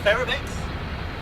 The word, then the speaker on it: Ferromex: Yeah, Ferromex.